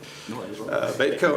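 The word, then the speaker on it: Beytco: Babyco. Baitco. B-E-Y, that's what it seems like, B-E-Y-T-C-O? Yeah, you're right. Baitco Inc., change order number 1, booster pump station.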